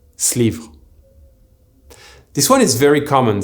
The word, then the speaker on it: ce livre: This is why ce livre will often be pronounced slivre.